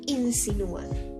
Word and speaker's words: insinúa: de dos vocales Ok entonces su fuerza se ubica en la u en sí no su